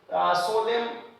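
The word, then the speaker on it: solemn: डैम पढ़ेंगे इसे, सोलेम यानी सोलेम पढ़ेंगे एक्सेट्रा, ये उदाहरण है।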